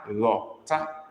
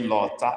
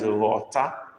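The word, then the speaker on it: ghọta: I didn't say Lotta. I even mentioned the alphabet we are considering now before giving the word. So I don't expect anybody to misunderstand what I said. Okay? Mary has even tried being a new person. Okay, that's better. Nakeda is better. That's better. Okay. Mary have tried, but look at what Nake wrote. That is the correct word. G-H-O-T-A with dot under the O. That is rota.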